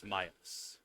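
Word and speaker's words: Milas: get much like you my name name is Myas and it's spelled m i l a s to those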